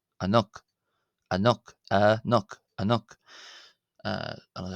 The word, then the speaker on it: ⲁ̀ⲛⲟⲕ: It's not going to be pronounced an it's going to be pronounced ano. Ano ano ano ano.